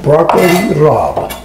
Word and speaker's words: broccoli rabe: Robbie has the non-italian would say but it's pronounced broccoli rabe and it's absolutely delicious called that that smells